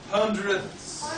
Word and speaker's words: hundredths: Hundredths.